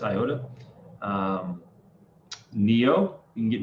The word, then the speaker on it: IOTA: dot file coin iota i know there's an m on that but it's still pronounced iota um neo you can